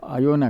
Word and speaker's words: Iona: Greece के पास ही एक बहुत ही छोटा सा आइलैंड है जिसको आयोना कहते हैं, IONA ये स्पेलिंग है उसका।